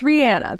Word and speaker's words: Rihanna: Do you say Rihanna or Rihanna? It's Rihanna. That's how she pronounces it.